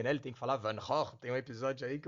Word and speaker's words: Van Gogh: O homem não pode nem falar Van Gogh, né? Ele tem que falar Van Gogh.